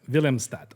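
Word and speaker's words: Willemstad: Villimat.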